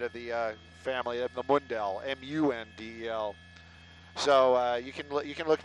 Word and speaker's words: Mundel: It's _Mundel, not Mindel, not Mandel. I'm not one of the wealthy Mandels. I'm the poorer side of the family of the Mundel, M-U-N-D-E-L.